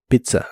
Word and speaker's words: travel: entre dos verbos simples la e de Travel es muy muy suave y suena casi como o to Travel to Travel y usaremos la frase